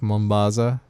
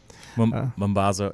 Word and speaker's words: Mambazo: I believe Ladysmith Black Mambaza. Is that how you say it? Mambazo, yeah, whatever.